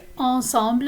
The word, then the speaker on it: ensemble: But of course, in French, this is pronounced ensemble, and it means together.